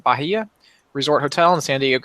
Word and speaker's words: Bahia: It'll be the week of September 11th through the 15th, so it's a Monday through Friday, at the Bahia, is how you pronounce it, Bahia Resort Hotel in San Diego, California.